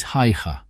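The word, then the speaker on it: Haigha: does them when he's happy his name is haha he pronounced it so as to rhyme with Maya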